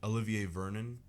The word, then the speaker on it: Olivier Vernon: liked him coming off College besides like oliv Olivier Vernon mhm I'm I'm trying to pronounce that correctly you're correct yeah okay I